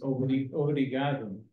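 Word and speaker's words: obrigado: thank you you know the word we use is O some of you know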